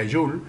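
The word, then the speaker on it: joule: la energía mecánica de su unidad es el hawley y se pronuncia azul y se representa su símbolo a través de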